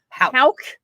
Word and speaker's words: Houck: Houck.